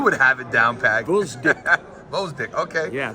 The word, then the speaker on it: Gvozdyk: have it down pack vck vck okay yeah the g is silent okay vck what are